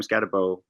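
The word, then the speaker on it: Skattebo: I was between him and I can't believe Cam Scatabo, that's how he pronounced his name, was that high.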